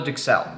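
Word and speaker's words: duxelles: Now, while we let that tenderloin come up to temperature, we're going to start with what's called a Dixel. That's spelled D U X E L L E S.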